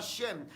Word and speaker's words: Shem: Entonces, quien apareció en aquel tiempo fue Shem, el hijo de Noé, Sem, que en el hebreo se pronunciaba Shem.